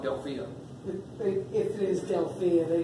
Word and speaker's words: Delphia: But they pronounce it Delpha. Is how they pronounce it, but it's spelled like Delphia.